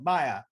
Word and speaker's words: Mya: so i'm moving on to question three so maya i i i'm not i'm pronouncing that right right yes all right coco